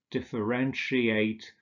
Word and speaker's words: differentiate: And finally, we have words like differentiate, where we have the sh sound, negotiate, initiate, also etwas beginnen, initiieren, satiate, etwas sättigen.